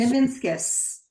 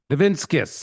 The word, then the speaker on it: Nivinskus: Nivinskus. Nivinskus. Just like it's spelled. Right, it is. It's phonetically correct.